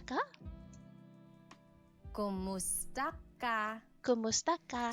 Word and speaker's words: Kumusta: Kamusta ka? Kumusta ka? Kumusta ka? So it's spelled K-U-M, kumusta ka. But sometimes you might hear some people say kamusta ka, like it's a K-A sound.